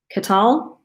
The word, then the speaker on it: KTEL: So, the the KTEL, which I think is pronounced Katel. K- Anyway, it looks like kettle to me, but it's not.